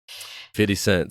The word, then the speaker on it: 50 Cent: it's actually 50 or 50 cent i'm sorry 50 cent so it makes me think of south park when it's pronounced that way though if you give up